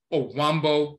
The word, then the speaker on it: Ovambo: But you also have in Namibia and Angola, you have the Ovambo people, Ovambo, O-V-A, Ambo, Ovambo, but some of them pronounce it Owambo with the W.